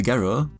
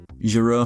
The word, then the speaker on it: Gero: As for his real name, Dr. Gero, that's just how it's said. I do find it interesting that both English dubs at the time got the pronunciation wrong, but still said it different from each other. Gero from Funimation in-house and Jaro from the Westwood/Ocean dub.